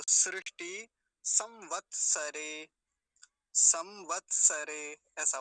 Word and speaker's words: सृष्टि: कुछ लोग क्या बोलते हैं, सृष्टि बोलते हैं ऐसे करके, सृष्टि, ये वाला बोलने में उच्चारण सृष्टि का होता है कि परमात्मा ने सृष्टि बनाई, सृष्टि नहीं बनाई परमात्मा ने तो सृष्टि बनाई, सृष्टि। और उसमें भी भीतर क्या है, मूर्धन्य शकार है ये इसके अंदर जो बना हुआ